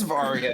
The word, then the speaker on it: Varia: it pronounces it varia no I'm saying because it is varya now but it was originally supposed to be barrier suit and it got put in the various suit in mistranslation right yes what do